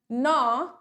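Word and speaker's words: gnaw: Glover, अच्छा हाँ, Glover, नॉ, नैश या ग्रिंड। एक तो मुझे समझ नहीं आता ये अंग्रेजों का, ये करते क्या है, जब इनको जी प्रोनाउंस ही नहीं करना था तो जी लगाया क्यों।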